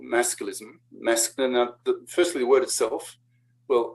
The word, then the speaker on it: masculism: By the way, not masculinism, for the same reason that it's not femininism, right? It's just feminism, feminist. So masculism, masculist, 3 syllables, masculist.